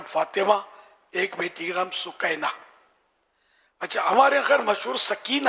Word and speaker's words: سکینہ: ایک بیٹی کا نام سکینہ۔ اچھا، ہمارے خیر مشہور سکینہ ہے، بہت مشہور ہے سکینہ، تو یہ ہے اس کا اصل تلفظ سکینہ۔ سکینہ لفظ بھی اچھا